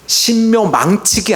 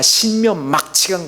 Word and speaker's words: 신묘막측: 발음이 좀 그래서 죄송합니다만 신묘 망측이 아니라 신묘 막치간 거예요.